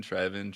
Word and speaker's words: Trevin: i mean trey then trevin trey we're going to put an artificial accent on the e now would you like